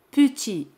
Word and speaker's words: petit: La palabra petit significa pequeño. Petit. T al final es muda, no se pronuncia.